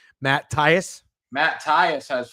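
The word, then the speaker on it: Thaiss: Matt Tyus.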